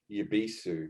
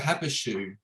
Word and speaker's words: Happoshu: regular Sapporo, and I think the hops of Happoshu, which is another brand of theirs.